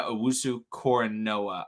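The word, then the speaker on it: Owusu-Koramoah: are micah parsons and jeremiah owusu cora noah i believe it's how you pronounce it j okay wanted to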